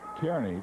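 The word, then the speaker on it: Kearny: pronounced I would I would pronounce it uh Kierney, too. I believe it is Nebraska. Karnney. Kernney is what I would pronounce it. But he says it's Carney back there.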